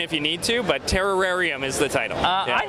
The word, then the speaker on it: Terrorarium: You got to really lean into terror. You got to say Terrarium. Terrarium.